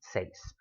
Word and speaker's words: seis: The 16 has an accent mark on the E in seis. Seis itself does not have an accent mark. Seis. One syllable word doesn't need an accent.